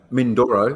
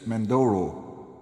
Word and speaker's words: Mindoro: Mindoro. You said Mandoro.